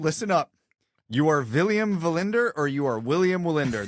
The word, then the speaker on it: Wallinder: William Wallinder. So Wallinder prefers the V instead of the W. So it looks like it's pronounced William Wallinder.